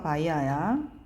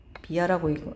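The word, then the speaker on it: via: 통해서가 바이아야. 뭐뭇을 통해서. 비아라고 읽기도 해요.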